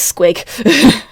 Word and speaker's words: squig: I mean, it's spelt S-Q-I-G, but it still says squig.